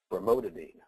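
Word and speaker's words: brimonidine: Commonly prescribed ocular drugs are bromonidine, that's how you pronounce it, and you'll see the generic price as opposed to the brand price.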